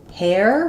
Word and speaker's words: hair: So, for hair, we have the air dip thong. So, for some people, making the difference between hair and air is difficult. You want to make sure you're letting some windy H sound come out in the back of the throat.